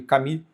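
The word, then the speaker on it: Camus: E eu tô falando de Albert Camu ou Albert Cami, acho que Cami, eu acho que a pronúncia mais correta em O estrangeiro, que é o livro que eu quero ler em 2026.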